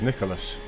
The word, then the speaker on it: Nicholas: I think Jim needs a reprogram on how to pronounce some of these things. That says Nicholas. The car behind me. He's just called him Niklaus.